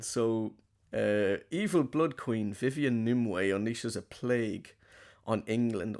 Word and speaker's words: Nimue: I can't pronounce the villain's name. Nimue, is that correct? Nimue, yeah, Yeah, yeah, by played by Mila Jovovich from the Resident Evil movies.